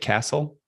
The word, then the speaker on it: Castle: And today's session features Jason Castle. Is that how you say it? Castle? It is indeed. Yeah. Very good. It's like the building.